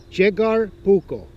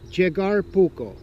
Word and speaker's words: Jaakkari Puukko: we were both laughing right so it's a jig our bucco jig our buco not Jakari because that's what I said Yukari